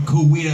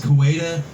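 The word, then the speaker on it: Coweta: what's up cxt kuwita extreme takeover dave payne here with dustin little filming this from kuwita oklahoma now every time i do a youtube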